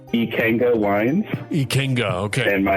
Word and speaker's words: Ikenga: It's I K E N G A and you pronounce it how? Ikenga Wines.